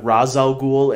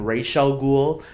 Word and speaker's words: Ra's al Ghul: it in the movie just like Ra's al Ghul and Rachele Ghul the movies and television shows have pronounced it both ways so maybe they just